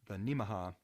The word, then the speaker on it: Nemaha: Project Geneva, Nebraska, and the Nemaha, which you can remember how that's pronounced by, it's similar to Omaha, so Nemaha, Kansas.